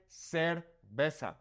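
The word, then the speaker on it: cerveza: Okay, so in Mexico, we would say cervesa. Okay, the c has the s sound and also the z has an s sound.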